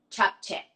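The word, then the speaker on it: 잡채: Can you pronounce that for me one more time? Japchae.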